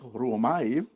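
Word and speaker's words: Roumai: Numéro 4506, c'est le mot Romai, c'est R-O-U-M-A-I, puis se prononce Romai, puis c'est d'être attiré ou d'être retiré.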